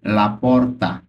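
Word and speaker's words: gli: অর্থ ফার্নিচার এখানে দেখুন জি এল আই এটার উচ্চারণ কিন্তু লি হবে ইংরেজিতে আমরা নরমালি উচ্চারণ করতে গেলে কি হবে গ্লি জি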